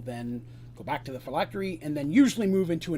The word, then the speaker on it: phylactery: have something called a phylactery. That's how I pronounce it. There's different ways. That's just how I say it. But a phylactery is usually some type of a container that contains its actual essence.